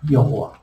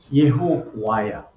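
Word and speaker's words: יהוה: 원래 발음이 예호와야. 그 바울이가 예호바다. 예호바야. 그럼 독일에서는 뭐가 돼? 이거를 갖다가 독일은 이게 이 발음이야. 이 발음. 독일은. 그래서 이게 YHWH를 뭐라 쓰면 예호바 이렇게 썼어. 예호바. 이거를 영어로 가면서 어떻게 돼? 영어로 가면서 제호바가 돼. 제호바. 이게 우리나라에 오면서 어떻게? 여호와. 환장하는 거지. 이름이.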